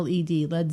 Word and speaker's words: Led: a lead Zeppelin well they changed the spelling because they didn't want people to you to get to use the wrong pronunciation of lead so they changed it to Le lead Zeppelin so the drummer came